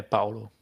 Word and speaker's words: Paolo: Yeah, Paolo. Paolo. Paolo, yeah. Emphasis on the O.